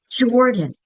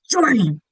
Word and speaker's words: Jordan: So, Jordan. Jordan. That first syllable, the chin goes drops down because it's said with more emphasis. You could do it in an angry voice. Jordan.